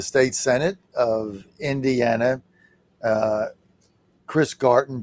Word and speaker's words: Garten: We're with Majority Leader of the State Senate of Indiana, Chris Garten, G-A-R-T, as in Tom, E-N, but pronounced like Garden, and he's with us.